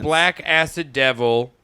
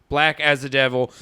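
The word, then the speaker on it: Blackacidevil: having a trouble yeah I thought it was black acid devil then I I read it's supposed to be pronounced like black as a devil so already I'm pissed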